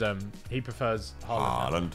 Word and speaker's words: Haaland: In Norway, it's pronounced Haaland. He said he's my goat. He's my goat. But I think he prefers Haaland.